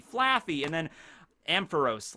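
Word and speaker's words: Flaaffy: It's like fluffy, Flaffy, and then Ampharos.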